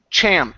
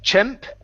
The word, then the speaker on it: champ: your last word is the word champ instead of chimp it's an a sound cha champ champ good